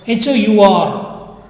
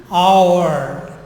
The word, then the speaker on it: hour: the hour the hour Hou are love love the pronunciation offered me mispronounced Hou are in English it is our okay aw or our